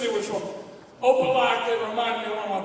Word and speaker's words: Opelika: And her husband said, "Well, I'll stop, but that ain't Opelika, it's Opelika." Well, she says, "That's not how it's spelled. It's spelled Opelika.